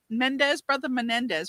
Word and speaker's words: Menendez: I guess maybe if the Menendez brothers.